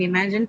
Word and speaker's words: imagine: So in imagine, please keep checking your chat box also. I'm leaving the answers there. So in imagine, the stress is on the second syllable, right?